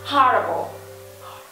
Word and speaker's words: horrible: của n nha horrible Chúng ta có ba tiếp h và nhấn vần âm tiếp thứ nhất h everyone horrible horrible là kinh khủng khủng